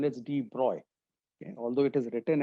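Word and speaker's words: de Broglie: But D brogley or the correct pronunciation is D bro.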